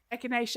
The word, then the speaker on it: Echinacea: Echinacea. Yes. We did cover this because I remember exactly that. Echinacea.